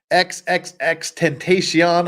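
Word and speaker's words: XXXTentacion: Earlier this year, we had the trial of XXX Tentacion. I'm told that's how it's pronounced.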